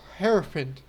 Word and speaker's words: Hierophant: Hierophant. That's how you pronounce it.